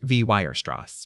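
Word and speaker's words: Weierstrass: a generation later in the lectures of Carl Wirst. His name is pronounced V Werross.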